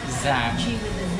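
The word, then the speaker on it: Giảng: Zang, or how do you pronounce the word? Zang.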